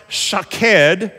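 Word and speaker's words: שֹׁקֵד: they sound almost similar almond is pronounced shaked and watch is pronounced Shak the only difference between the words you probably you may be able to see it on the screen the only difference between the words are those little lines under that Center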